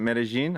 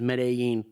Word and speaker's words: Medellín: And you pronounce it Medellin?